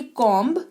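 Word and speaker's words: comb: के लिए ठीक है एम के बाद अगर किसी शब्द में बी आए तो बी का उच्चारण नहीं करते हैं दिस इस डी मोस्ट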